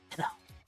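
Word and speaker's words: Stheno: It's Beno. Is that how you say it? Then bask in her radiance. That's right. I am a goddess. My name is Theno.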